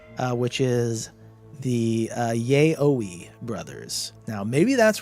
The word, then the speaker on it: yaoi: It's definitely not that. There's no chance it's that. No shot. Now yaoi may not be correct either, but how do you spell it anyway? It's Y-A, is it Y-A-I-O or Y-A-O-I? Y-A-O-I. So I think yaoi is more correct.